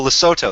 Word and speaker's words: Lesotho: And Oh, Lesotho. That's how you pronounce it.